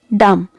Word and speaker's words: dumb: Another word, dumb. Here also letter B is silent.